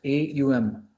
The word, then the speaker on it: Om: The mystic symbol Om, pronounced A-U-M, A-U-M, is at the center is the Atman.